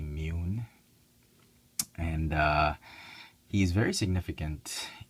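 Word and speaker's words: Muun: u u n um I thought it was moon but it's actually imune and uh he's very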